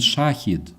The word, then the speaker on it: shahid: Daniel says yeah absolutely and there is a difference between shahed and shahid actually which I my lady tried to explain me somehow shahid that's actually name something that I I thought yeah I thought that shahed is the way they pronounce shahid but uh that's actually different thing that's a name with a different ha of course and everything else yeah